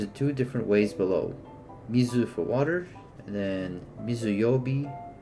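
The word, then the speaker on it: みず: Mizu for water and then mizuyobi for Wednesday or suyobi for Wednesday. Example one, mizu water. Uh the kanji water appears on its own and is read as mizu in English.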